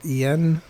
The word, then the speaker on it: igen: En. It's spelled igen, kind of like the yes in Hungarian, but en.